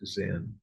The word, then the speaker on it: Zen: In Japan, it was pronounced Zen.